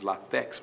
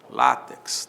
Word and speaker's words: látex: x no final látex muita gente diz latex mas não é latex é látex não é e que termine